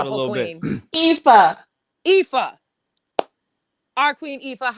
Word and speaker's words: Aoife: I keep wanting to say Aophia, and I know that's not it. How do you pronounce Come on, it? Queen, Please, help us out a beautiful little queen. bit. Aoife, Aoife.